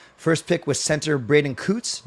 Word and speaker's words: Coots: First pick was center Braden Coots. Not Coats. Anyone saying Coats is wrong.